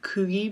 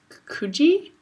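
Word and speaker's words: Coogee: here I was saying Coogi Beach because it's spelled c-o-o-g-e-e so I'd be like oh that's cookie Beach turns out it's kuji so you go to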